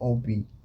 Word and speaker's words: OB: Well, my name is Obi and I'm from the cold city, rhyming with the word OG.